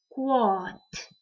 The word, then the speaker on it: kwaad: Klank saam met my, kwaad, k, kwaad. Ons hoor dit, maar ons skryf 'n d.